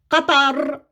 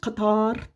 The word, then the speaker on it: Qatar: favorite subjects, words, their meanings, and their proper pronunciation. It's Qatar, not Qatar.